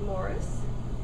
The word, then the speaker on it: Marie: And then there was my father, who spelled his name the French way, because for a while they lived in Hull, but he always pronounced it Morris, but it was, the spelling was Marie, so that's always been a bit of a confusion.